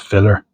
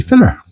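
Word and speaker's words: fillér: I think it's pronounced filler.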